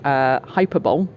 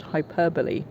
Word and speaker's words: hyperbole: For example, I always pronounced it hyperbole because hyperactive, etc.